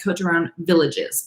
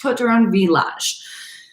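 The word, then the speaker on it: Côtes du Rhône Villages: de Rhône Village, or it looks like Côte de Rhône Villages, but it's pronounced Côte de Rhône Village.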